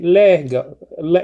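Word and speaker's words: λέγω: two syllables you say lego i'm sorry a lego lego has uh two syllables so you say le go lego okay lego and it means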